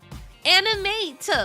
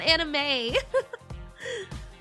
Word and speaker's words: Animate: Animate with a T. Animate, not anime.